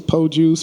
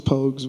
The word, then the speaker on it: Pogues: what's the what's the what's the proper way to say Pogues pokes yeah it's po juice Pocus I've heard everything you heard of but it's Pogues and pokes and see